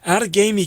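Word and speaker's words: Outagamie: for a long and healthy career out in out of gamey county wisconsin i love that name out of gamey yo well you got the pronunciation right which is better than most what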